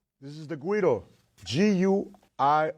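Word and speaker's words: güiro: this is the guido gu i r o not GUI Doo as I hear many people mispronounce the name of this instrument specifically this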